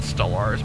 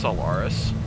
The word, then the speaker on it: Solaris: or solaris excuse me not stellars i always call it stellars but it's pronounced solaris build a hilarious variant of